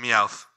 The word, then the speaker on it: Meowth: All right, we now move on from Christine's clearly favorite Pokemon, Doug Trio, and now move on to Meowth. Wait, how do you say that? Meowth.